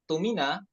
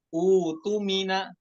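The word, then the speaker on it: اؤْتُمِنَ: Kalau kita bacanya tumina karena di situ ada hamzah wasol, di hamzah wasolnya dijadikan hamzah kotok tumina, maka bacaannya salah. Karena kaidah pada hamzah wasol itu apa? Idza jaa ba'da hamzah sakinah nanzur ila harfi salis. Kalau ada hamzah sakinah, lihat huruf yang ketiganya gitu kan, dijadikan dhammah. Jadi kemudian yang hamzah itu dijadikan mad ya, utumina seperti itu.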